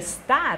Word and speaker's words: star: 我念的就是 star，并不是说我忽略了